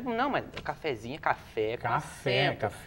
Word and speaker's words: cafezinho: da Verdade é um cafezinho café café mas daí tem um inho no final oxítona por causa do Zinho daí já é outra é outra sílaba tônica não eu acho que